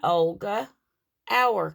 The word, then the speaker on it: Olga Auer: She is an Olga Auer kit. That's spelled O-L-G-A-A-U-E-R.